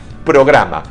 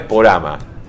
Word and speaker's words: programa: Dice programa, no es porama.